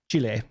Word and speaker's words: chile: Yeah, Chile, and But I'm talking about it means child. pronunciation. Yeah, it means child Sure. in their glossary. Sure, but it's pronounced Chile, not child.